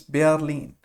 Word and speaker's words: Berlin: Please note in English we call it Berlin, in German it's Berlin. Why is it so? We learned R in German is air, so we pronounce it Berlin.